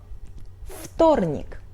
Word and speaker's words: вторник: The same situation is in вторник . В is voiced but it's before Т, so we pronunciate it like Ф — .